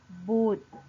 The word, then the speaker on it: บุตร: เลย ใช่ ไหม คะ เรา จะ ไม่ อ่าน ออก เสียง พยัญชนะ รอ เรือ นะ คะ เรา จึง อ่าน คำ เหล่า นี้ ได้ ว่า จาก ท่อ สูตร บุตร และ เพชร นั่น เอง ค่ะ ตั้ง ค่า ต่อ